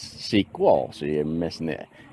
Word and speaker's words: SQL: but no people that know this it's called sequel sequel you got to pronounce it so that's kind of a double